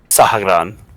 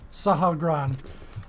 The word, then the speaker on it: Sahagrann: I'm going to take a step in front of it, looking up at how did you pronounce it again? SAHAGRANN. SAHAGRANN. I'm going to say in deep speech again, SAHAGRANN, what is your purpose?